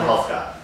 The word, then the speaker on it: Helfgott: We're sitting here at MadHive's office in New York with, and I don't know how to pronounce the last name. Helfgott.